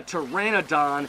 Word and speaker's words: Pteranodon: at the pizza hut because the p is silent it can't say the letter p so it's off at